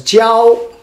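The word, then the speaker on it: 交: The third one, we come with this one, pronounced as jiao.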